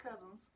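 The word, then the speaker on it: Couzens: u.s senator james j cousins yes i looked up how to pronounce his name he says just like cousins presented his personal check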